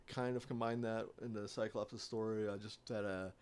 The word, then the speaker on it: Psychlops: Cyclops, but it's spelled P-S-Y-C-H, Lops.